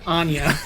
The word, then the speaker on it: Anya: Once again, Anya. Both syllables.